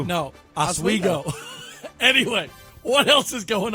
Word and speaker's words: Oswego: Oswego. Hey, he did it. He reverted. That's nailed it. That's an O-Z-W. Oswego. No, Oswego.